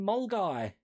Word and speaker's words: Milngavie: And it's like, oh, you mean Mulguy? Oh, okay. But like in Norfolk, even Hunstanton apparently we've all been pronouncing wrong.